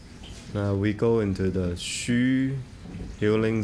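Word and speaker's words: xu: we go into the Shu healing sound instruction for the LI the shu is spelled as x with the U the Shu healing sound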